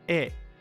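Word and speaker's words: へ: Japan, towards, go "he" as a particle is generally pronounced "e," as, again, it's easier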